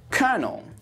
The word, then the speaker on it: colonel: Colonel. Easy, right? Say it after me. Colonel. Now, it's said like colonel and spelt like this.